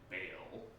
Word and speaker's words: Baal: Rusalka Corpse, part of a dangling feeler used by the demon Baal, or Baal, depending on how you want to pronounce it, because it's a whole thing.